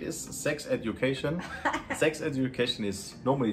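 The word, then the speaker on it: sechs: So number 8 is Sex Education. Sex Education is, normally it should not be number 6, because you know in Germany number 6 is pronounced sex, like the sex, you know?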